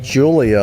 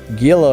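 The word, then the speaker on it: Giulia: um is it good i guess it's pronounced julia like the woman's name julia it doesn't i wouldn't dang it i crashed i would have never guessed it was julia i thought it was gila or something like that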